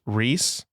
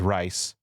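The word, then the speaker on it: Reiss: shoot I'm forgetting German in Germanic countries it's pronounced Reese in England America and english- speaking we use rice okay interesting who knows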